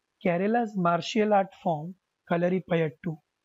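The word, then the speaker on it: Kalaripayattu: Kerala's martial art form कलरीपयट्टू, okay, कलरीपयट्टू इज the pronunciation, and the practice of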